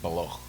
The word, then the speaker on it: Baloch: And you have another group called the Balak, or the Baloch, like Loch, like the Scottish Loch, like Loch Ness. You pronounce it Baloch.